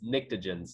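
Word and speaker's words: pnictogens: group are called the NICTA gence but it's spelled a little weird its PN I CTO GE n s GE and s the P is silent so it's NICTA jhin's not addictive Jen's or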